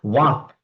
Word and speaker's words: walk: For example, walk, W-A-L-K. But L is silent over here.